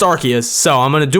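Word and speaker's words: Arceus: me I mean feel free to but it's pronounced archus so I'm going to do my best to pronounce arus as archus and not rcus so sorry for that I correct myself near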